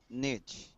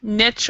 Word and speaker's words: niche: Our company blog helps us connect with people in our niche. Yes, niche or niche. Both pronunciations are great.